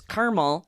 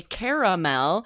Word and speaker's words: caramel: If the speaker says caramel, you might spell it without that A in the middle. If they Yes. say caramel, you're more likely to spell it correctly because it sounds like how it's spelled.